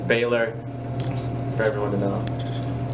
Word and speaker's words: Baylor: That's how you say my name, it's Baylor, just for everyone to know.